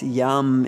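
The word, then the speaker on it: यं: Yum is the exercise yum is the one syllable Sanskrit Mantra that goes with the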